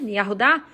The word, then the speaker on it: Yahudá: tribo de Judá, né, Yahudá, então esse Vav tem som de U, entendeu?